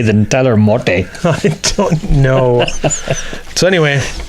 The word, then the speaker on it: Motte: Tyler Motte. Do you have any Grey Poupon? Tyler Motte. I think it's Mott. Mott. Yeah. Then just say M-O-T. Don't put the 2 T's and an E.